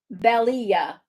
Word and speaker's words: Belia: It'll be like you're going to say Bell, then Ia. Belia.